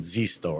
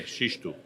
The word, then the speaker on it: Xisto: You pronounce it Zisto, right? Yeah, Xisto. Xisto.